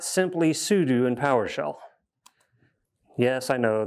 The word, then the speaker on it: sudo: It is super user do for all of you monsters that pronounce it wrong and call it sudo. It's not sudo, it's sudo.